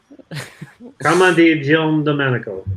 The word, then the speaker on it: Carmine Di Giandomenico: Carmine Di Giandomenico.